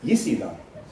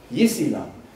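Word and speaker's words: 伊斯兰: If you say it, if you want to say Islam, they're going to say Yisilam. Yisilam.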